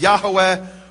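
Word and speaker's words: יהוה: In fact, it says there in the Hebrew, Yud He Vav He, which I pronounce as Yehovah, others pronounce as Yahweh or Yahweh.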